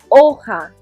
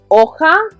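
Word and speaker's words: hoja: there d we've got oha remember that h is silent so repeat so looking at our images we've already chosen three so our last option is oka which is a leaf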